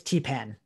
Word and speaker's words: Theepan: well i also i think i said your name wrong you'll see around right oh no that that's that was that's actually a mistake on my computer it's i don't know why zoom does that it's it's t-pen there's d-pan oh i